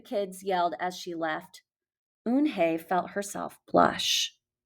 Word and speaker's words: Unhei: no no unhinged corrected it's spelled u-n-h-e-i it's pronounced un hey oh it's you hey the boy said like